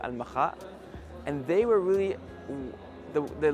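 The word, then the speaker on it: المخا: In Arabic, we pronounce it Al-Makha.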